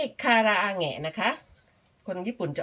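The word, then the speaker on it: 唐揚げ: เรียก ว่า คา คาราเกะ จริง ๆ แล้ว ไม่ ได้ ออก เสียง คาราเกะ นะ คะ เพราะ ว่า เกะ คำ นี้ เค้า ใส่ ขีด ข้าง บน 2 ขีด เ เลย จะ ต้อง อ่าน เป็น แหงะ นะ คะ คารา อาหงะ นะ คะ ภาษา ญี่ปุ่น จะ ออก เสียง คำ ว่า คาราอาแหงะ ไม่ ใช่ คาราเกะ นะ คะ คน ไทย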